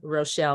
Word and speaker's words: Rochel: My name is Rochel, not Rochelle.